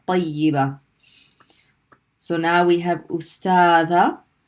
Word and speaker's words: طيبة: Then we pronounce the ya here with the kasra, yi. Tayyi. And what happens to the letter ba? It's the next letter is ta marbuta, so it has to be pronounced with a fatha.